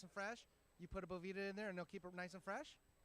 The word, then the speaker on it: Bovita: It is Bovita, but hey, everyone says Bovita, or it's a bunch of different things.